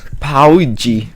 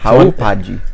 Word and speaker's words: Hauppauge: It's Hauppauge, maybe. Pauji. No, Dylan, no. Hauppauge. If you want to look it up, it's Hauppauge.